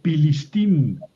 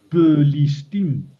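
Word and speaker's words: Pelishtim: Eh, aquí por ejemplo dice pilistim, plistim. Y hay que decirla p fuerte. Ahí no se pronuncia f.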